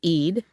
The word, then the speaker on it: Eid: his colleague, Vice Chairman David Eid, which in a bunch of books and articles is rhymes with greed.